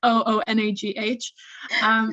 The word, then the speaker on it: Oonagh: this underneath, just because my name's Gaelic, so it's spelled kind of funny, so you probably, it's like Oonagh.